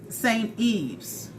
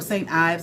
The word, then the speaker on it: St. Ives: So I go to Target, and I saw some St. Eve's, okay, or St. Ives. I think it's pronounced Eve's.